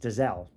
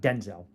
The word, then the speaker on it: Denzel: And his real name is actually pronounced Dazelle. That's He said that before, right? Not Denzel.